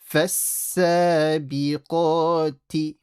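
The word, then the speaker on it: فالسابقات: Yeah, don't say ka. Make the qaf heavy. And the t, don't stretch. فَالسَّابِقَاتِ.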